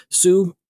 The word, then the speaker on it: Hsu: Sue. Fantastic as well. Yeah. HSU. Right. Sue, I think. Right. Yeah. I believe that's how it's pronounced.